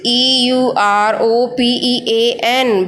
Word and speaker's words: European: The spelling is European, but the pronunciation is European.